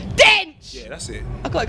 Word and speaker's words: Dench: Dench. You can't say it like that. You got to say it properly. Dinch.